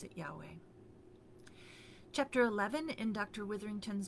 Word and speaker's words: Yahweh: Later, however, scholars realized that those were not the vowels of the name of God, and they, I'm not sure how this happened, but they changed their ideas about how the consonants themselves were pronounced. And that's how you get YHWH and their best reconstruction of the name of God, which is Yahweh.